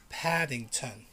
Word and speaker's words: Paddington: do you call this paddington remember be careful it's not paddington like in spanish no it's paddington paddington the t the t makes a difference british guy would say